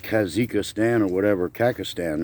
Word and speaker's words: Kazakhstan: Kazakhstan is actually how you say it, so I was able to get that corrected.